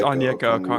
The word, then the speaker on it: Onyeka Okongwu: It's It's Onyeka Okongwu.